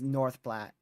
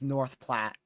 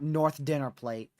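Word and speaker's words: North Platte: uh Ethan it is North Plat not like a freaking dinner plate it's North Plat that's how we pronounce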